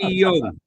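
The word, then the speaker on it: Eyong: Not the way you pronounced it, no. Etta. It's Iyong.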